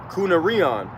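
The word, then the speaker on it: κυνάριον: all right and uh the pronunciation of it is kunar Rion all right which uh reminds me of that of the word um reminds me of that word canine okay so it says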